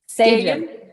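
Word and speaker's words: Sagen: Sagin.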